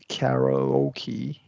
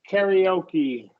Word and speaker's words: karaoke: placement throughout the sentence uh good uh singing karoke with friends is always entertaining yeah entertaining and you want to close that entertaining yeah entertaining entertaining yeah perfect now this word is pronounced karaoke yeah karaoke yeah it's a Japanese word so I kind